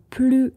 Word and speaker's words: plus: attention quand on dit plus la biodiversité est riche plus la planète est en bonne santé vous voyez on ne prononce pas le S on ne dit pas